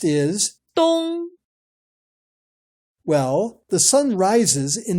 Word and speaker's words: 东: The word for east is, 东 well, the sun rises in the east. So we use the English word dawn to remember that 东 is the Chinese word for east.